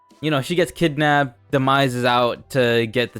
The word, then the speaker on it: Demise: How do you actually say his name? Demise. You've been flip-fpping between Demise and Demias.